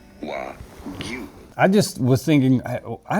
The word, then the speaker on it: Wagyu: How do you go about pronouncing this word? Wagyu. Wagyu.